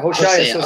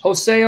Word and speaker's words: Hosea: Yeah, Hosea. Okay, yes. That would be. How do you say it in English? Hosea or Hosea? I said Hosea. Some people say Hosea.